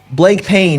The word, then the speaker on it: Blancpain: Is that how you say it in French? Blanc? Yeah, or blank pain, I guess, if you're American.